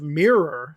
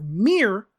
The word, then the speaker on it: mirror: And in the case of mirror, saying it really strong with that second syllable, that's more British English than it is American English.